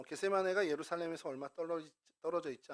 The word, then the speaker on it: 겟세마네: 해보고싶은 마음이 있는데요 어이 겟세마네는 기름짜는 틀 아까 말씀드린서 게드 세마라 이제 헬라어 발음으로 실제로 게드 세마이 이렇게 되는데 그런 뜻이고 어 여리고로 가는